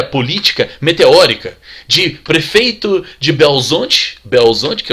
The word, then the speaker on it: Belo Horizonte: tem uma carreira política meteórica, de prefeito de Belo Horizonte, que é o jeito certo de falar, de prefeito de Belo Horizonte ele se torna governador, de governador se torna presidente.